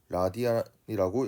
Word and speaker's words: 라디안: 쓰는 건 RAD라고 쓰고 라디안이라고 읽습니다.